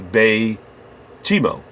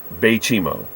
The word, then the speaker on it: Baychimo: I could be mispronouncing it, but I chose to pronounce it this way because of the Hudson Bay Company. I would assume that the Bay would be correct, and Chimo is Chimo, Baychimo.